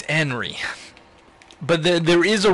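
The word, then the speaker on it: Anri: that you many many other yeah that it's anry and not hry yes I'm aware uh hello dead sulfur and I'm sorry about that but um yeah it's enry but there there is a real name hry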